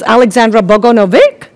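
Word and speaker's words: Aleksandra Bogunović: So I was even asking your pronunciation. It's Aleksandra Bogunovic.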